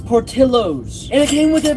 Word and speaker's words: Portillo's: by this $13 from Portillo, how do you say it? I looked it up, it's Portillo's.